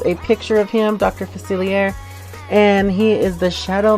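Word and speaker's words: Facilier: That's how you say his name. It even says it on the goddamn box. God, right there. Dr. Faciler. See that R?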